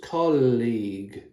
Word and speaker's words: colleague: It looks quite complicated, doesn't it? Looking at the letters that are in the word. But it's just 2 syllables. Colleague. Colleague. So league is like football league, La Liga. League. So that's just 1 syllable for all those letters.